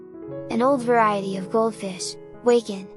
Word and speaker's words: Wakin: old variety of goldfish wacon pronounced joaquin are where all the